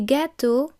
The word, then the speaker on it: gâteaux: So, for example, un gâteau, a cake, des gâteaux, cakes, un neveu, a nephew, des neveux, nephews. Notice that the X which forms the plural is silent.